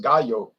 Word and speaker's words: gallo: the u.s market because the real name is gayo that means rooster in in spanish but he couldn't